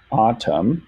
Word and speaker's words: autumn: word this in right here is silent i'm gonna go ahead and change the color of that to yellow like a little background color to warn you autumn so ah tom so it's two syllables moon light again quite